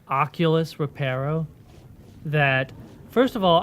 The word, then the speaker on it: oculus: So oculus, which is really supposed to be pronounced oculus, would actually be oculum, because reparo literally means I repair, right?